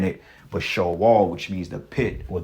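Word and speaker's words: Sheol: be the Greek way of saying it but show all which means the pit or the grave okay in the Hebrew which is pronounced Shaw wall okay which means hell but it's not talking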